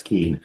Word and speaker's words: Quinn: Quinn, is that how you say it? It's Keen. Keen.